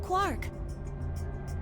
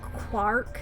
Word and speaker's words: Quark: What are we going to do about Quark? I'll carry him. Every time. It's still so weird to me that they pronounce his name like Quark instead of Quark.